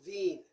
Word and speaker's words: Wien: The German pronunciation for Vienna is Wien, and that's where the term Wiener comes from.